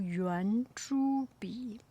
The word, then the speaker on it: 圆珠笔: It pronounced 圆珠笔. Make sense? It pronounced almost the same.